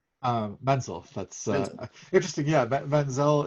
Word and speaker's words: Menzel: Yeah, Menzel. It's a like a German name, and if it's Menzel, that's the way that the Jewish people pronounce it, like Idina Menzel. But I'm just a plain old Menzel.